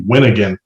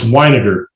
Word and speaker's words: Weiniger: So one time someone called me Winnigan. Nate Winnigan. And I was like, how does that even happen on this? Like, Winnigan. Right. Like, because the R looked like an N, I guess, on their score sheet. I don't know, but whatever. It's Weiniger. That's how it's pronounced.